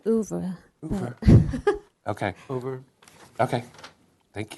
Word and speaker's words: oeuvre: Au revoir? Or I say oeuvre.